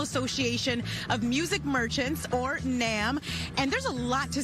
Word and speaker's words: NAMM: Yep, Coco live at the NAMM show. I said it right? NAMM?